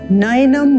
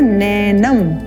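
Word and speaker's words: नयनम्: का प्रयास करते हैं पहला जो पद है वो है नयनम यहां पर आप ध्यान देंगे जो ऐ का स्वर है ये बहुत विशेष है इसको अधिकांश लोग उच्चारण करते हैं नैनम तो ये ए नहीं है यह है ऐ नय नयनम छिंदंति शस्त्राणि ण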